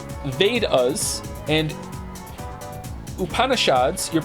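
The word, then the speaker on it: Vedas: it's okay thank you Emperor chinoo the vadas pronounced vadas and upanishads your pronunciation was quite close are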